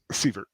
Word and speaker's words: Sievert: Is it Sievert or Sivert? Sievert. Sievert, okay, said it right.